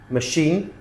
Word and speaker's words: machine: And here are some words that have a ch but shh sound. So they're spelled ch, but we pronounce them shh. Okay. Chef, chalet, machine, brochure, parachute, chaperon, chandelier, crochet, kiche.